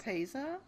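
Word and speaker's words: lopapeysa: And then the more I'm gonna mispronounce. Lopapeza?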